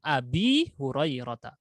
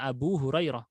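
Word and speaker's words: أبي هريرة: Makanya banyak bacanya an Abi Hurairah, bukan an Abu Hurairah. Walaupun kalau diterjemahkan jadi Abu Hurairah. Tapi ketika khafat dibaca Abi Hurairah. Karena efek khafat.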